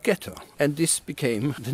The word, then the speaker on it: ghetto: away in Italian and when the Germans arrived here in 1528 because they couldn't pronounce the soft G of jet or they called it ghetto and this became the